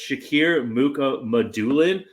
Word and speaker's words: Shakir Mukhamadullin: I would like to say though that JD sent me we have the pronunciation guide, and it's Shakir Mukhamadullin.